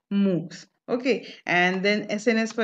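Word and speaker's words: MOOCs: open online course where the acronym is m o o c s and it is being pronunciated as moves okay and then sns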